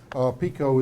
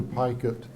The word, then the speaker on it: Picot: at Armistead Pettifer House Pico is the French pronunciation the pronunciation kind of evolved to Pike it after the family came here from France the house that you're